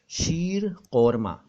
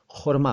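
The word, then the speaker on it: शीर ख़ुरमा: शीर कौरमा, शीर कौरमा, जबकि कई साथी समझ गए होंगे कि कौरमा शब्द नहीं होता इसमें, इसमें तो खुरमा होता है। तो बिल्कुल सही समझे हैं आप, खुरमा होता है, कौरमा नहीं।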